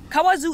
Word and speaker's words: Kawazu: We are on our way to Kawazu. Did I pronounce it right? Mm-hmm. Yeah. Kawazu is located like 2.5 hours away from Tokyo by car if you use the toll roads.